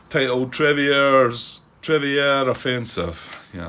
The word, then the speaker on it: Trevieres: This is mission 1 of the Normandy campaign, and it's titled Trevieres Offensive. Yeah, I'm sure that S at the end is silent, Grant. Sounds like a French kind of thing. Trevieres Offensive.